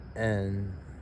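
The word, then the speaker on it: Н: e m n n n is interesting because if you're English you would think it's an H but in Russian is n very important o o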